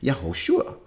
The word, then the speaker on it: Yehoshua: They'd say, yeah, that's his original name, and it would be pronounced Yehoshua.